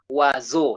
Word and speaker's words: oiseau: So how will you read that word? Remember, X is silent. Waso. So the sound Z, remember again, letter S is between two vowels. So we say wa. Can you take it again? Waswa. Wa? Swa. Waso. Wazo, yes, wazo. Wazo with X, that means birds. But now we say wazo. With or without X, the pronunciation remains the same.